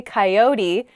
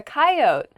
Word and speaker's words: coyote: is coyote I say coyote how do other people say this word kite coyote oh yeah coyote I don't say that coyote is kind